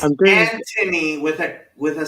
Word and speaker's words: Anthony: Anthony with a silent H, not a silent H.